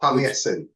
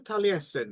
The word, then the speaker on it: Taliesin: Taliesin.